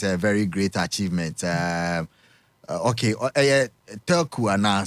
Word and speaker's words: Turku: So Turku. Okay, because we say what trip we say Turkey Finland kasano spelling exactly how you should pronounce it.